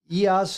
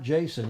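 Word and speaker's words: Iason: pronounce his name again EAS not Jason EAS Panagopoulos Panagopoulos from Brazil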